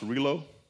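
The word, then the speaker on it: Rillieux: Norbert, I think the name is pronounced Relo, Norbert Relo.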